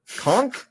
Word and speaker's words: conch: of pieces and God damn mother conch? Conch? It's- what? Conch is the correct way to say it.